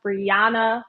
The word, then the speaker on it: Briana: my name wrong like my name is pronounced bana like the Jana is very like it's very it's emphasized so Briana so I hate when I hear like a Brianna or Briana with a ey instead of Briana so like I try